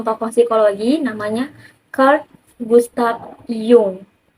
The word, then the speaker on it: Jung: psikologi namanya kur Gustav Jung walaupun tulisannya Jung Tapi bacanya jung ya sebagai mahasiswa psikologi kalau ketahuan nyebut nama si Yung ini pakai Jung canda jadi Yung ini